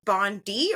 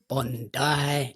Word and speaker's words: Bondi: I actually messaged I was like is it pronounced Bond D or Bond die because I didn't want to sound like an idiot yes it is Bond die if you say Bondi Australian going to look